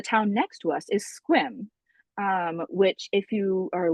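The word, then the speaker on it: Sequim: are but the town next to us is Squim. Um which if you are looking trying to pronounce it the way that is it's Sequum but it's pronounced Squim.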